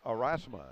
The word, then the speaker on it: Aurasma: especially this next one head of Partnerships with arasa is that the correct pronunciation yes it is all righty is Matt